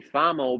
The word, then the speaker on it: FAMOE: because really I mean they say fame or because they think it's about the famous stuff actually it's actually fomo because of my name Fabiano montezano you know so